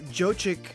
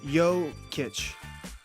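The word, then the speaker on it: Jokić: have been great but Joe chick joke cake I wish I could say the name or better come on it's really a problem I got a I got a look online and figure out how to say it named Nikola yo kitch Nikola yo kitch okay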